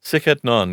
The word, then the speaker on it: Sic et Non: So you also have a blog on Patheos called, and correct me if I'm pronouncing it wrong, Sic et Non? Sic et Non, yeah.